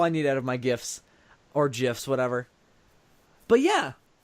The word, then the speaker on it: GIF: that no no it's gifts because the G stands for graphic not draffa k-- well because the original creator says jiff and that's the problem